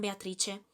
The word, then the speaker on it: Beatrice: Por ejemplo, la I en Beatrice.